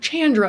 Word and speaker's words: Chandra: name is Chandra and how I tell people to pronounce it is think of like Jackie Chan and for some reason that little um tip everyone's like oh yeah Chandra and then from but